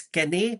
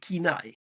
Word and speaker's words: Cannae: any attention is Kenai Holdings I used to pronounce it as K but I realized it was actually called Kenai so Kai Holdings which just like Barry dealers